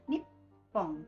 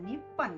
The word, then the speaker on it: Nippon: Oke, dibacanya Nippon, bukan Nippon ya, seperti pada video yang sebelumnya sudah saya terangkan.